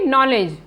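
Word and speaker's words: knowledge: दूसरा शब्द है लेकिन इसका उच्चारण है इसका उच्चारण हम करेंगे नॉलेज अब हम यहां देखेंगे की एस कहां पर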